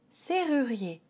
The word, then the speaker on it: serrurier: Serrurier. S, E, R. There's no need to pronounce this as a double R. This is a regular R. Donc c'est un R normal. C'est pas un double R.